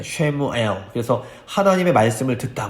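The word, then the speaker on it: Samuel: 그래서 히브리어로 쉐마 하면 너희는 들으라는 뜻인데 사무엘이 원래 히브리어 발음이 샤무엘입니다. 쉐무엘.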